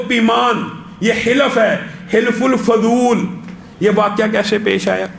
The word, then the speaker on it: حلف الفضول: حلف الفضول. حلف الفضول. یہاں پہ بھی اعراب اور تلفظ کی غلطی ہے ہمارے اردو زبان میں سارے حلف الفضول.